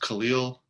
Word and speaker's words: Khalil: name is uh pronounced khalil i like to make the joke that it's very close to superman's original name in krypton kalel i believe just with